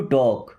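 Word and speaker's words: talk: टू टॉक टू टॉक means बात करना। अच्छा इस टॉक वर्ड में एल साइलेंट है।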